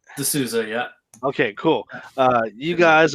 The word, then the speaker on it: DeSouza: Did I pronounce that right? DeSouza, yeah.